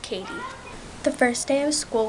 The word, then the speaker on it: Cady: say my name wrong it's spelled c a d y but it's pronounced Katie the first day of